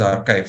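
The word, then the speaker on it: arXiv: very uh interesting portal called archive AR XIV pronounced as archive some of you will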